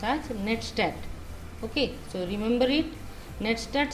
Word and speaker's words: netstat: The network statistics, or it should be pronounced as netstat.